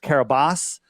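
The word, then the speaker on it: Kiribati: It's it's pronounced Kabas but it's Kerabati with a B.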